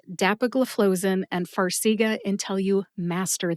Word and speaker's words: dapagliflozin: The next syllable is flow, as in water flows out of a faucet, and the last syllable is zin, like Zinfandel, which is a popular wine here in the United States. Put all 5 syllables together and you get dapagliflozin. Emphasize DAP and FLOE. FLOE gets the most emphasis. See if you can hear DAP and FLOE emphasized when I say it again.